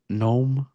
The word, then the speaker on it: Gnome: Just like a regular gnome. Yeah, Gnome. with the stupid hats. The G is silent.